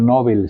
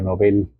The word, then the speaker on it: Nobel: No se dice premio Nobel, se dice premio Nobel. Maestro, pero todo el mundo dice Nobel, dice no importa, pero se llama premio Nobel.